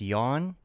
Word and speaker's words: Jan: I think you're thinking it's like it's yawn.